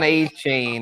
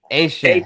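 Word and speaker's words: Etienne: The new pronunciation, yes, not Devon A-Chain. This is Travis Asian. ATN. Yeah, or ATN for those. I put it on the ticker. I know. ATN at 17. Yeah, for sure. Asian. Yes, the Cajun pronunciation, the Cajun French way.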